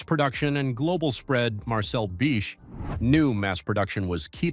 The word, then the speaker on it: Bic: He also simplified the brand name to Bic, dropping the silent H so English speakers could pronounce it easily.